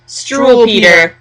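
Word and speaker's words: Struwwelpeter: It's called Struwelpeter. We think that's the way to pronounce it. I'm Struwelpeter or something. Yeah, because the W's are V's in the German, in the Deutsch.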